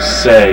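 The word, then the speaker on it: Seay: wayne seely on the carry he picks up about four they'll call it three second down and seven dwayne say is probably pronounced s-e-a-y number 21 he's a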